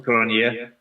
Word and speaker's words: Cronjé: time i'm joined by okay you pronounce it skull cornea and you are in